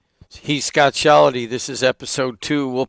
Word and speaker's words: Shellady: being called, you know, my last name is pronounced Sheldy.